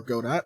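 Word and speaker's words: Godot: of your sprite and if you're using godo or goda again whichever you prefer for your pronunciation um there's actually a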